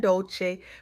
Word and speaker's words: Dolce: Welcome to the soft girl era podcast hosted by Dolce, pronounced dolce like sweet softness whispered in French.